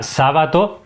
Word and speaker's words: Sabato: misterioso ya que bueno muchas veces se escribe sábato al ser una palabra esdrújula con acento en la según sus propias palabras se pronuncia sábato pero no se acentúa no lleva tilde Por eso digo que